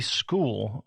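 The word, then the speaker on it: Skool: Later this year, we are going to be launching a free school which is spelled skol.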